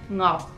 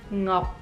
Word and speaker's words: Ngọc: So in English, the NG sound on the beginning of the word is very difficult. So I spent many years practicing because my last name is, so I needed to learn NG, how to pronounce that. And so I think that the name would be Ngọc. Ngọc. You close your mouth at the end with a C, and